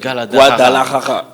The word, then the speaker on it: Guadalajara: Je rappelle, les Congolais arrivent déjà à 21h de Kinshasa de ce lundi du côté de Guadalajara. Je pense que je vais bien prononcer. C'est Guadalajara.